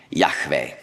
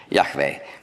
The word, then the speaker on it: Yahweh: Ich spreche ihn jetzt aus. Und zwar so, wie er ursprünglich ausgesprochen wurde. Wir wissen das, weil wir ganz frühe Transkriptionen haben mit griechischen Buchstaben. Da sind die Vokale dabei. Yahweh. Mit hörbarem H.